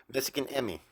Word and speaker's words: Mexikanemi: what's about it uh This Is How They pronounce it spell it m e x i k a n e m i Mexican Emmy which is a form